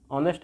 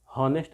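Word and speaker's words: honest: ऑनेस्ट है, ईमानदार है। हॉनेस्ट नहीं बोलते, ऑनेस्ट बोलते हैं, ठीक है। इम्प्रूव योर प्रोनाउंसिएशन, ऑनेस्ट बोलेंगे।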